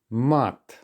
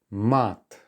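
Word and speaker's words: мат: here's the first word mat let me remind you that in Russian vowel sounds are sharper and more open so make sure that you are bearing that in mind when pronouncing these words mat all right and this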